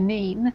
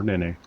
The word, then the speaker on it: Nene: navigations and the River Nene. Or Nene. Or Nain. Or Nen. Depending on where you're from.